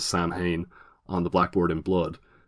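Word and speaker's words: Samhain: school uh write sa which everybody in the film pronounces San hay on the Blackboard in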